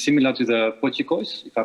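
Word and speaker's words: potjiekos: And it's similar to the pochikois, if I pronounce it well.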